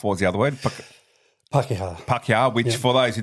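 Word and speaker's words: Pākehā: How do you pronounce that again? Maori. Maori. Mm-hmm. Yep. And Pakeha.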